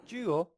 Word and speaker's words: 九: 9, this is how 9 is pronounced in Chinese. 九 Jewel, jewel, jewel. And so for me, I kind of hear Joe, and I think of coffee, a cup of Joe.